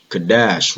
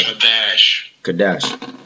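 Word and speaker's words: קָדַשׁ: The pronunciation for the word in Hebrew, right, is this one. Strong's H6942. Kadash, right? Kadash.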